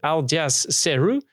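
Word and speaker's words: Aljaž Ceru: check it all and the founder i let's pronounce the name right aljaz ceru wrote an article about the release of their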